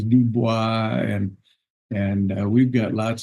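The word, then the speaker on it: Dubois: eth and uh and D boy of course is dubis and and we've got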